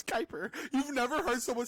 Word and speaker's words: Kiper: He's like Kipper? top 10. Kipper? I said Kipper. Mel Kipper. Kuiper. Hyper? There's no, bro, I don't care. Mel Whatever. Kipper. Kiper? It's Kuiper.